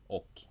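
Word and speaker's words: och: oak that's an because it's spelled o CH but it's pronounced oak it's kind of weird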